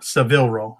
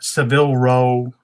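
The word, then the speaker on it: Savile Row: that makes any sense there's a brand sevil sevil Ro I think it's how it's pronounced my UK people are going to be roasting me um but sevil row is a is a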